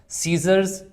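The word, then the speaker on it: scissors: सी को नहीं पढ़ा सीजर्स इसमें जब ये दोनों मतलब कॉमिनेशन आ जाएगा एस और सी इकट्ठा आ जाएगा फिर हम क्या करते हैं कि हम सी को प्रोनाउंस नहीं करते इस तरह से एसेंट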